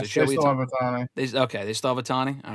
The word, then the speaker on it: Ohtani: Do they still have Shohei Ohtani? Oh, that's not how you pronounce it. They still have Ohtani.